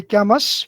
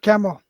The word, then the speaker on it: Camus: albert camus we we we generally say gammas for our uh is our power con comfort but is generally pronounced as a word camo camo not so camo so sisyphus is